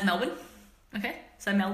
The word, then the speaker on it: Melbourne: wear your stuff okay you pronounce Melbourne you pronounce male born as Melbourne okay so Mel B